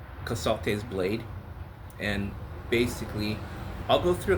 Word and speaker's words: Casalte's Blade: How do you pronounce the name of the book? It's called Casalt's Blade.